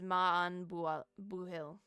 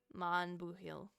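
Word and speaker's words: maith an buachaill: The pronunciation is Maan Buhill. Ma Buhill.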